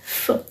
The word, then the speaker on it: v: Now you understand why we pronounce it as fi but let's verify.